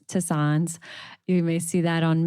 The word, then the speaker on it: tisanes: And so, these are the ones that herbal tea, herbal infusions, um as Mimsy let me know it's pronounced tisanes.